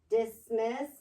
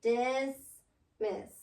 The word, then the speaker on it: dismiss: Which one is accented? Dismiss. Dismiss. Dismiss. Dismiss. Dismiss. Is accent. Miss is accented.